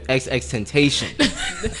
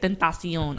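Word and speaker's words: XXXTentacion: I know somebody that calls him XX Temptation. I was so Like, no. what? When he first came out, I was like, "Yo, how you say it?" And then he said it. He was like Tentacion.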